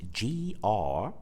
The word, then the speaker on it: group: So as you can see, the spelling of this word is G-R-O-U-P. So the OU part of the word is pronounced oo. So we pronounce the word group.